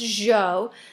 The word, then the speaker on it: Zhou: And I understand that this looks like Zhao, but it is actually pronounced Zhou.